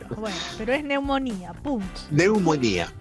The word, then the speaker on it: neumonía: Neumonía, sí, aunque diga el médico neumone. Si el doctor dice neumone, dígale, no sea gringo, amigo. Estamos en Chile. Neumone, algo así, no sé cómo se dice. Sí, no, se escribe con pn, p p n. Claro, con p, claro. Pero se dice neumonía.